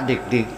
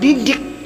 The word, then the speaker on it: Dik: Ya, ini Pak Dik, jangan Didik. Itu salah, tersinggung dia.